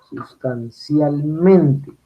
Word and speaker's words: sustancialmente: Sustancialmente. Cuando es sustancialmente, como es una palabra compuesta, entonces el acento recaería sobre el mente, ya no está en el cial, sino en mente.